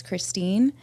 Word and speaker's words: Kristen: So Christine, if you're going to read my name, it's spelled like Kristen, but I say there's an imaginary E, so it's Christine. I have that name to thank to my grandma.